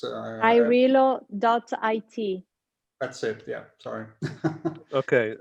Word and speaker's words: AIRelo: I think it's AIRelo.it. That's it. Yeah, sorry. Okay, Madalena, So say one more time. AIR. So, and then ELO, AIRelo, as you prefer to pronounce it.